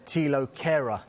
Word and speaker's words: Thilo Kehrer: But they've made an improved offer now for the PSG defender, Thilo Kehrer. That's how you pronounce it, isn't absolutely spot on.